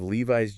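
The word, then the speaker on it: Levi's: No, in both cases, it's a voiced Z sound. And notice the long vowel sounds, too. Levis and Bose.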